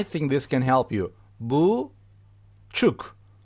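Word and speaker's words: buçuk: this can help you boo Chuck don't expand the word actual don't extend a pronunciation keep it short boo Chuck boo Chuck Chuck okay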